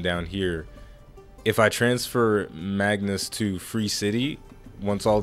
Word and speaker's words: Magnus: working towards manga tsa's it's actually Magnus I just say his name wrong all the time I'm working towards